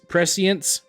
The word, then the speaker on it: prescience: your augmentation abilities so we have pre prescience is how you say that prescience and then we